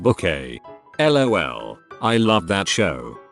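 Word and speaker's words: Bouquet: that we all knew sorry it's pronounced book a lol i love that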